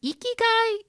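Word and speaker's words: ikigai: back to something you said earlier about the eeky guy is that what you said how do you spell that i k i g a i what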